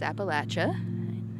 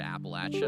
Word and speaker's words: Appalachia: Yeah, so the word is Appalachia.